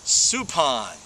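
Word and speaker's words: Suppan: Supan and he did it again yesterday it's Supan Jeff Supan and this by the way from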